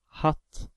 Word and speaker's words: hatt: The second word hatt has two t after the a, so a is pronounced as the short vowel, hatt.